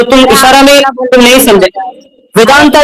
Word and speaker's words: वेदांत: भाई मेरा सवाल क्लियर है कि मतलब है वेदांता नहीं होता। वेदांत होता है पहली बात और दूसरी